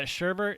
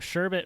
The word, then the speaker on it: sherbet: it up and uh yeah sherbert is just like a misnomer for it like that did you do like the google or the youtube pronounced thing no i just looked it up i looked up sherbet versus sherbert and it was like only idiots say sherbert because it's either good